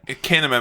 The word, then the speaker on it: Kinema: in the woods beautiful pronounced Cinema mate kinema mate it begins with a K okay that's why I